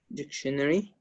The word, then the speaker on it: scenery: word what is it scenery not exactly in in British English we use the stress at the first syllable of the word you know what is